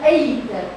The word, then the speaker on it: ache: I've got the stomach ache because I had too much couscous, for example. Stomach ache. Ache can happen douleur. C-H-E. C-H-E se prononce K here in this word.